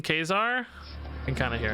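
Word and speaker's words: Ka-Zar: so many people have made fun of me for saying Kazar but that's just how it's pronounced maybe I knew that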